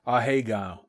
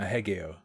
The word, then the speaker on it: Ahegao: Weebs are Ahegao. Ahegao. Surely, not Ahegeo.